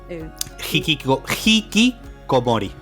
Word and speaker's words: hikikomori: Hikikomori.